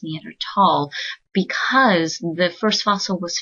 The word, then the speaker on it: Neanderthal: the Germanic language U the th is pronounced as a hard T so in the scientific Community it's pronounced neander tall you can say Neanderthal that is correct but